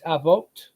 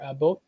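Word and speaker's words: אבות: So Av, you can pronounce it as Ab or Av. The plural form is Avot or Abot.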